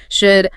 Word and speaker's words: should: Should another silent L.